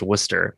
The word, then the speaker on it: Worcester: worcester massachusetts which is spelled worcester but is pronounced worcester because reasons because yeah exactly and uh that's